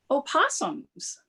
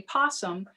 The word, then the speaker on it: opossum: in north america and the correct way to say it is opossum here in texas we have the virginia opossum i know we tend to shorten it and just say possum but that animal is